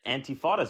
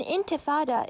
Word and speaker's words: intifada: said revolutions are terrorism I said I said antifas are terrorism first of all it's not it's